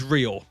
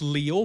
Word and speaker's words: Leo: Now, in everything I found online, his name is spelled Leo, but they pronounce it in the English dub as Rio.